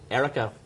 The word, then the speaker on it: Ericho: Magazine and CEO of, is it pronounced Ericho? Ericho. Ericho.